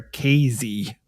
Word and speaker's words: Casey: They do pronounce it there Casey, Illinois. Oh.